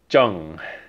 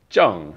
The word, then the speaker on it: 正: So the pronunciation here is Zheng. Zheng. And we know because it's Lilakuma that it's the fourth tone, so it's the falling tone.